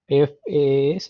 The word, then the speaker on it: FaaS: in brief okay this you can also pronounce as FAS or fast service okay this is basically